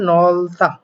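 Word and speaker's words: 넓다: একটা কোশ্চেন দেখতে পাচ্ছি সেখানে কি বলা হয়েছে নলতা এটা উচ্চারণ হবে নলতা অর্থাৎ প্রশস্ত উচ্চারণটা কেমন করে হলো মূলত আপনারা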